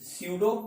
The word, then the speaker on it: pseudo: हमने लिखा force स्यूडो यानी पी से लिखते हैं, ठीक है, पी इसमें साइलेंट होता है, जो अब लिखा ऐसे जाता है बोला वैसे जाता है।